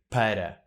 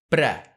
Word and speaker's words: para: especially when we sing no one is going to say Para it's one syllable too many for a word that we need in every other sentence so we just say pra but technically you should always write down Para dem's the rules next